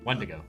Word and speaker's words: Wendigo: Yeah, put the emphasis on the first syllable. Wendigo.